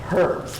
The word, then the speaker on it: herbs: Um down here pretty much everybody says herbs with a silent f H.